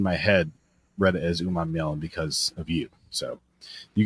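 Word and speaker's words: Umanmielen: I can't wait for people who haven't found out already that it's Uman Mielen. Princely Uman Mielen is how you say that.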